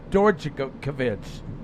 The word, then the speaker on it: Stojkovic: I mean, let me tell you how it's spelled. Stojkovic. It's pronounced Stojkovic.